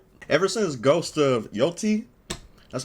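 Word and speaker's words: Yōtei: ever since Ghost of Yotei, that's how you say it, came out, or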